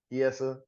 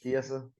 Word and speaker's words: Chiesa: Chiesa. That's how you say it, Chiesa. Mm-hmm. Fiesta. Fiesta.